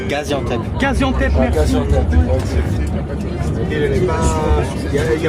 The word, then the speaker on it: Gaziantep: Comment ça se prononce? Gaziantep.